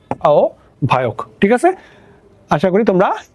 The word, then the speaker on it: আহ্বায়ক: তো একটু খেয়াল করো, তাহলে আহ্বায়কের উচ্চারণটা কিরকম, তাহলে আমার এখানে সরিয়া আছে, সরিয়ার পরে আগে আমার একটা ও চলে আসবে, আর হয়ব এর পরিবর্তে আমার ভ চলে আসবে, তাহলে ভ চলে আসলো, তারপরে কি অন্তস্থ অ ক, আও ভায়ক।